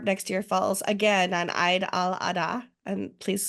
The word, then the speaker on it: Eid al-Adha: because WordCamp Europe next year falls again on Eid al-Adha. And please correct me, Samah, if I'm saying that wrong. It's Eid al-Adha, but it's okay. Thank you. I'm trying my very American pronunciation of things, which is one of the